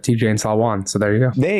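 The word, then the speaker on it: Salaün: I don't know the 100% pronunciation, but I would have said Tijan Salwan. So there you go. There you go. So we'll work on that. Apologies. I know Salwan is definitely the correct.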